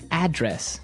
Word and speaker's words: address: the same way as address that's right but you pronounce it differently the verb address has the the stress on the second syllable okay address yes and